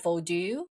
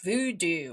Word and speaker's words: Vodou: know, I know this, you pronounce it vodu. It's just like how it's supposed to spell. And you know, in Hollywood, everybody's like voodoo.